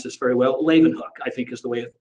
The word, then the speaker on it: Leeuwenhoek: There was a scientist, Antony van, I don't know if I can pronounce this very well, Leeuwenhoek, I think is the way it is pronounced.